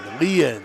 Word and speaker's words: Leanne: His dad told me it's like alien. Leanne.